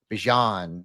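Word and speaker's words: Bijan: Bjon Robinson. Not Jean. It's like don can you pass the gray pupan that's how I'm gonna remember to say it correctly Ashen Genty uh Gibbs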